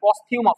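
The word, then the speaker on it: posthumous: সময়কে বোঝানো হবে তাহলে পস্থিউমাস উচ্চারণ হচ্ছে পস্থিউমাস উচ্চারণ কি পস্থিউমাস মৃত্যুর পরবর্তীকালে এবার দেখো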